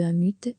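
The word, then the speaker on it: Unmute: soirée de lancement de 1 but a prononcé à l'anglais signifiant littéralement non silencieux un but c'est une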